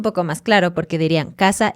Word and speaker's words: caza: en general de Latinoamérica no hacemos una diferencia para nada en el sonido de estas tres letras. La letra C suave, C sí, la S suena también como S y la Z también suena así, suavemente. Entonces, por ejemplo, el problema que tenemos a veces es que tenemos palabras que se escriben con S o Z, que obviamente significan cosas distintas, pero las pronunciamos igual, como casa y casa.